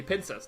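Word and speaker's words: pincer: and second of all it's pin Mania like pins like the Pinas of crabs and scissor the Pinas not pins the Pokemon the mistake was often made because the pronunciation is the same basically but Pizza p i n c e r piz so for GBA recap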